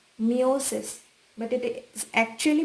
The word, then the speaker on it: meiosis: Meiosis, in most of the places it is pronounced as meiosis, but it is actually pronounced as meiosis.